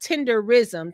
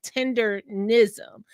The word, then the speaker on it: Tendernism: I always say it wrong. So not tenderism, Tendernism.